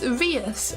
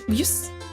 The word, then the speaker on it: Vius: It's Vius. Lifus. It's like French. V. So that's what my name means. Lifus. But Lifus doesn't sound as cool. I like Vius. You could also pronounce it as Vieus if you want to be fancy, which I would never